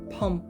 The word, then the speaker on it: Bom: korean for tiger and it's not pronounced bom it's pronounced pom so the bo is